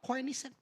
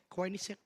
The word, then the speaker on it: Koenigsegg: Gua baru tahu cara bacanya kemarin. Apa? Koenigsegg. Mobil hypercar pas ini. Koenigsegg.